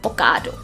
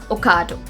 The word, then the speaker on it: Ocado: the next word is ocado ocado the correct pronunciation of this word is going to be it's not o it's a now another brand name